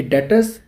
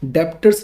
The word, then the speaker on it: debtors: और याद रखना, इसे हम डेप्टर्स नहीं पढ़ेंगे। यहाँ पे जो बी होता है वो साइलेंट होता है, तो आपको बी नहीं रीड करना, यानी कि इसे पढ़ेंगे हम डेटर्स। ठीक है, ना कि डेप्टर्स।